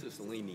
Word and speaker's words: Cicilline: Did I pronounce that right? Cicilline.